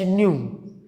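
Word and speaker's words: ν: Sunlight के लिए अक्सर ऐसा भी सिंबल यूज़ किया जाता है H न्यू।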